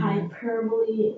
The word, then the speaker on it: hyperbole: hyperbole, and personification.